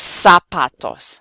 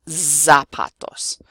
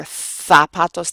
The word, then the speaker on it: zapatos: The last letter, Z, is pronounced like a S. It's pronounced like an S. It's not voiced.